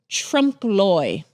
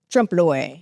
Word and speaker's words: Trompe-l'œil: years um and it's called Trump Loy Trump Loy Trump Loy according to the Googles because I had to figure out how to pronounce it because it's very confusing um but it means